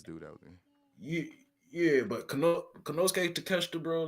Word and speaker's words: Konosuke Takeshita: Konosuke Takashi. Konosuke Takeshita.